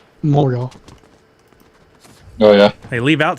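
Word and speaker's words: Montréal: it's all good yeah I don't want to be in Montreal but you got to say it right moreal oh yeah hey leave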